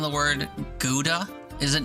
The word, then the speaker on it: Gouda: Doug made me realize the proper pronunciation of the word Gouda.